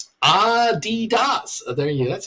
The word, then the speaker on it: Adidas: It was what we used to call it Adidas.